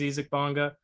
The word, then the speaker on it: Isaac Bonga: is obviously picking up isik bonger isaac bonga supposedly the pronunciation is easy bonga he was a small